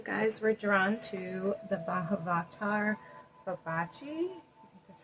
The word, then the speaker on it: Mahavatar Babaji: So you guys were drawn to the Mahavatar, Babaji, that's how you say it, and the Stone of Courage.